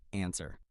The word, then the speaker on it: answer: The correct answer is answer. Answer is spelled wrong. Remember, answer has a silent W in it.